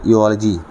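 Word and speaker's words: eulogy: अगला वर्ड है इयोलॉजी। इलॉजी। इ यू एल ओ जी वाई।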